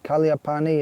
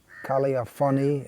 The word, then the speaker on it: Kaliyaphani: God brothers Kalia pani pribyl just passed away Kalia Pawnee is how has been known throughout his life since he was initiated the actual or proper pronunciation in Bengali would be Kalia funny in Sanskrit Kalia honey but he's always been